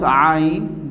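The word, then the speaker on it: عين: And my dear students, you have to pronounce Ain, the alphabets Ain, from the middle of the throat.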